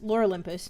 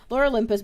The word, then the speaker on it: Lore Olympus: on web tune, um, lore Olympus, uh, Olympus, Lur Olympus, that's how you pronounce that in English. Lur Olympus, but that's done.